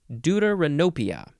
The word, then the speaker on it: deuteranopia: How do you say this word? Deuteranopia. Where is it? Here it is. Deuteranopia. Deuteranopia. That's how you pronounce that word.